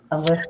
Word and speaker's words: Alyssa: Alyssa, I always say Alicia. We have an Alicia that works for me, and I say her name wrong, and now I'm saying it right.